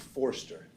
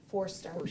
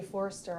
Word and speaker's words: Forster: Lee corrected me so pronounce it for me Forster Forster yeah I was calling you Forester all that's all right